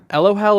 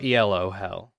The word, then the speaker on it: Elo Hell: Elo Hell or Elo Hell? So there's different pronunciations. Okay. It's like all three. You can say ELO hell, you can say ELO hell, and Elo.